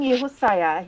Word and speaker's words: Josiah: But my son Yehosaya, he's 34. Josiah, pronounced Yehosaya or JJ for short.